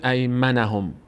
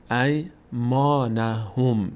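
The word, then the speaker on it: إيمانهم: ای ما ما ما نمیگیم م نمیگیم ای منهم میگیم ای ما به خاطر این الفه اگه این الفه نبود ای منهم میشد اما چون این الف هست باید تلفظ بشه ای ما ای مانهم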